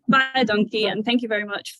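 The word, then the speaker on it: baie dankie: met taught us that if you say buy a donkey um if it's written phonetically it sounds like you're saying thanks a lot in Afrikaans so bye donkey and thank you very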